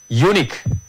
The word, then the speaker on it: unique: read this words unique please say after me unique unique look in this one we can pronounce these words as consonants so we can